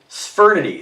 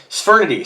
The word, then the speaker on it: Sphyrnidae: All right, so let me just go back, and I'm just going to play a pronunciation here. What is the meaning of the word Sphyrnidae? Sphyrnidae. So Sphyrnidae.